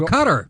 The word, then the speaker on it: Qatar: ] should I Oh cutter a cut yeah well Jesus I thought you talked about a country okay Qatar's now pronounce cutter I was like why